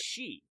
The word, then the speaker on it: Qi: was spelled the same when you see Qi most people are gonna look at that and pronouncing you know key or Queen but it's she because that's alright that's